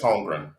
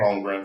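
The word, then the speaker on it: Holmgren: his name wrong yeah it's homegrown like like homegrown from the packers chat holder so uh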